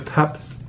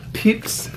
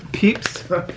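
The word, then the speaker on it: Pepys: uh the journals of Samuel pep peeps peeps somebody in France corrected my pronunciation and so I read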